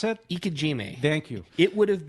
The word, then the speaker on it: Ikejime: And how do you pronounce it? Ikejime.